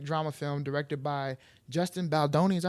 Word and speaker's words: Baldoni: It Ends With Us is a 2024 American romantic drama film directed by Justin Baldoni.